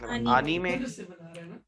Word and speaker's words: anime: anime, you know that's the right way to pronounce it, anime.